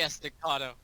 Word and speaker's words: Estacado: Jackie Estacado.